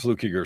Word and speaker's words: Fluckiger: only two kell and fluke eager so put my name in anywhere be sure you spell it right and say it right because the other way of saying it is fighting words funny because i was